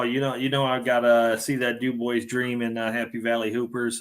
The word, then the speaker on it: Dubois: I'm going to pronounce it the correct way. I don't care. It's Dubois.